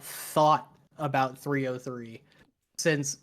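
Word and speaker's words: 3OH!3: Is it pronounced 3-0 or is it just O? Or is it 303? 303. It's 303. Thank you.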